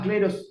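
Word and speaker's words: Kleros: Se llama Cleros, se escribe con K.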